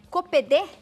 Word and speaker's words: Coppedê: Copedê. Tá certa a pronúncia?